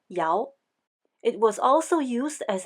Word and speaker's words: 陶: The original meaning of Tao was a kiln used for firing pottery, pronounced Yao.